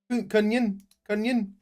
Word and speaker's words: kungen: So you see that there's an N before the G. Yeah. That means that it's special. Okay. So it makes a sound.